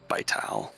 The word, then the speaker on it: Vital: I don't know how you pronounce it, but Vital? Vital. Vital.